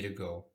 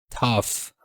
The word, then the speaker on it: tough: that not the way to go. Tough pouco parecido com enough, né? Tough é a pronúncia, não é tog. Tough.